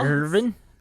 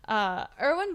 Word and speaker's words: Erwin: So the German anthropologist you're talking about, his name was Erwin Baltz. I guess how would you pronounce that? Would Irvin Baltz? Irvin. That's not German. My German that was attempt. Very good. Erwin Baltz.